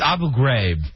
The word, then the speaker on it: Abu Ghraib: you pronounce that name first it's abu ghraib why do you pronounce it differently than our president uh because i pronounce it correctly i pronounce it the way the iraqis pronounce it the president i